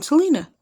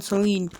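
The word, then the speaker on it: Sahlin: Oh, Don Selena. Don Celine. I've mispronounced that.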